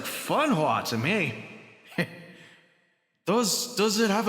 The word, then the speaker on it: Fenghua: What I've read in the cast list, it reads Fenghua. Fenghua is the Chinese pronunciation, Barty. Interesting. Sounds like Funhua to me.